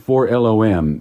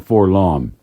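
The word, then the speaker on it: 4-LOM: entertaining and fun so really it should be pronounced for LOM not for long all right kind of like C3PO you know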